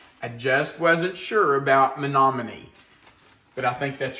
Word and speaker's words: Menominee: go to Google and try to find the pronunciation for the name of your town because I just wasn't sure about Menominee.